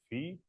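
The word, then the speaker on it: phi: denote which I denote by uh fee, and uh the curl part, which I denote by psi. I choose different pronunciation just avoid confusion.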